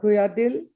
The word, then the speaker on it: Kuyyadiyil: Subeesh Kuyyadiyil. Am I pronouncing your name? Yes, absolutely right.